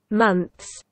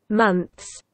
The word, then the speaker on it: months: Months. Months. Months. Months. Обратите внимание, что между двумя согласными, между зубным «ф» и нашим «с», нет гласных никаких отзвуков, звуков, призвуков, ничего. Months.